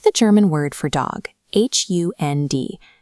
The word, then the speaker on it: Hund: Take the German word for dog, H-U-N-D. Because the D is at the very end of the word, it sharpens into a T.